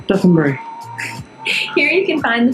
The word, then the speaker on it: Dotonbori: Dotonbori.